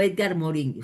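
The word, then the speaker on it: Morin: teoría de complejidad de Edgar Morán, que es este autor, o Edgar Moro, si lo quieren pronunciar así en en español.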